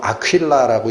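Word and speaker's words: Aquila: 그 영어로 얘기하면 아퀴라라고 읽힙니다. 아퀴라.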